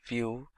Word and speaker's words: Vue: application solution vue.js is commonly referred to as View and pronounced as vuejs or view is rightly so